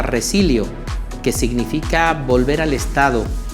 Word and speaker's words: resilio: La palabra resiliencia viene derivada de un verbo latino que se pronuncia resilio, que significa volver al estado habitual, retornar a un estado conveniente.